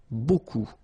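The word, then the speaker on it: beaucoup: bit strange like that remember you don't pronounce the final P okay and then you get this combination of vowels a and you get the sound o so technically it's B okay so it's not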